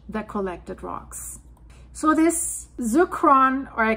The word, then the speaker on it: zircon: If I would pronounce it German, zircon, that would be easy. In English, zircon, who knows?